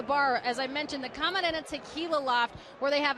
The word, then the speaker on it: Camarena: It's really Camarena if you want to say it correctly.